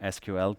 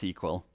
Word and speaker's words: SQL: The most used way of accessing databases is using SQL, or SQL, some people say, but it's actually officially pronounced SQL, and that stands for Structured Query Language.